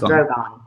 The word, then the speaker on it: Drogon: Drogon, I pronounce it different ways. Sometimes when I'm talking fast, I say Drogon. But I know it's Drogon.